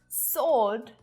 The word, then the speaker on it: sword: But a silent W pops up a little more frequently than you realize in words like to, sword, and answer. You don't hear it at all.